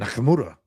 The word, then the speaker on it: Nakamura: And Nakamura. That's how you pronounce that.